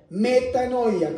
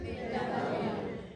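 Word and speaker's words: μετάνοια: Metanoia. ¿Cómo se dice? Metanoia.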